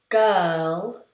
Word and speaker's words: girl: So in the word girl, you'll notice I don't make an R sound at all.